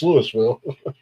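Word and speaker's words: Louisville: I also say Lewisville. Why? Because it pisses people off. It's Lewisville.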